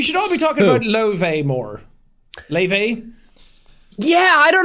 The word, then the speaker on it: Laufey: They say to she says to say Laufey, but Laufey? because it's Laufey or Laufey because it's an Icelandic the A and the U in Icelandic is kind of like one letter.